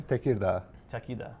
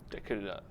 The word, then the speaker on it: Tekirdağ: This is for one of the cities in this region, Tekirdağ. Tekirdağ.